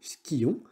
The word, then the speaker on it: skions: Ça se prononce comme s'il n'y avait qu'un seul I, skion, mais il y a bien deux I à l'écrit.